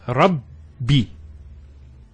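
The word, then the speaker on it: رَبِّ: The first ba takes a sukun. And the second take, say kasra. So it's Rabbi.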